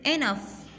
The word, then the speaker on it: enough: D is silent. Okay. Sixth is enough.